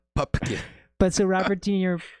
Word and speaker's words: Pupkin: And they always mispronounce his name, Pumpkin, but it's Pupkin.